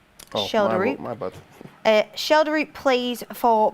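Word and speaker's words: Schjelderup: It is actually pronounced the left winger that was being spoken about earlier, Schelderup. Oh, Schelderup.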